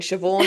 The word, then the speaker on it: Siobhan: I mean, Siobhan is probably like the limit of how much my brain can like remember.